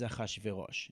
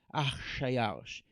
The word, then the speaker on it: Achashverosh: So Chishayarsh is Chishayarsha, and in Hebrew, because it's really hard to pronounce this very heavily consonantal sound, we add an ah. So it's, instead of being Chshayarsha, it's Achashverosh.